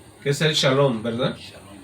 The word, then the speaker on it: shalom: Shalom, shalom. Y recuerde, hermanos hispanos, gloria a Dios, no es shalom, sino que es shalom, amén. SH, Shalom.